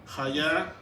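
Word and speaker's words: היה: Y también quise ponerles la pronunciación para que sepan cómo se pronuncia Yihye, Hayá, Ve o Ve.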